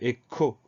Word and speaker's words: écho: Donc, E accent aigu, ensuite on a le son K de écho. Ce son K, il va s'écrire CH. C'est pas logique, mais c'est ainsi, c'est le cas dans quelques mots, comme choral par exemple.